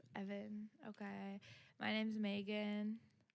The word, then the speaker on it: Ivan: It's spelled I-V-A-N. Damn. Wow. Are you sure it's not like Ivan or something? Ivan. Ivan. Ivan is in Evan. Spanish. Evan, dude. Yes. Evan.